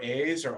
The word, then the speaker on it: Asa: And generally, at the beginning of Hebrew names, it's pronounced with a hard A, like a long A. So Asaph or Asa.